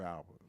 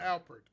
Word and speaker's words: Alpert: The way he flipped Rise, Herb Albert was serious. Who? That's Herb Albert. Herb Rise. Alpert.